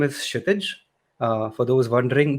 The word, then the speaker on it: Kshitij: My name is Kshitij. For those wondering, the K is silent and the T is soft.